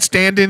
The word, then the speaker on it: Standen: Clive Stan's that's how you say it again stand in straight and stand in stand-in fantastic British Britain's